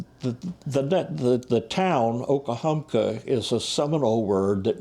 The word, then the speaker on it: Okahumka: was a remarkable spring called okahumka they didn't pronounce it that way they pronounced it with two e's at the end and two e's in the middle and that's all switched around a lot so it was okie humpkey is the way the yankee the